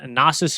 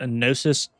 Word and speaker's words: Knossos: These cities here, Thera, Argos, and Knossos here, excuse me, I think it's actually pronounced Gnosis.